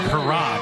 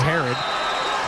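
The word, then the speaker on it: Herrod: It's spelled H-E-R-R-O-D, so it looks like Harad. And I know the PA announcer says Harad. And he was telling me when I was going over pronunciations, yeah, I call him Harad. But last week someone called him Herod, and he's like, yeah, that's my name. He's never corrected coach. So it is Herod.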